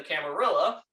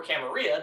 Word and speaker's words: Camarilla: the traditions of the Camarilla, or Camarilla, depending on how you want to pronounce it, you get acknowledged.